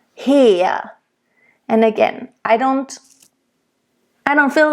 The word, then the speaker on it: her: Tod und Verzweiflung flammet mich her. Mich. It's not too harsh though, and it's not mich. Okay? Her. It's a nice closed E at the end. Her.